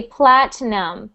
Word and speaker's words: platinum: sound Platinum so we pronounce that word with no I sound we ignore the I we don't pronounce it we say Platinum Platinum Platinum Platinum good